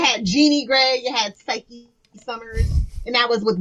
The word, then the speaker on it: Cyke: No, Psyche. No, because it's a silent E, because you're making it a long I sound in the Y.